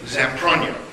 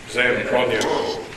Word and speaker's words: Zamprogno: Zamprogno. Zamprogno. The G is silent.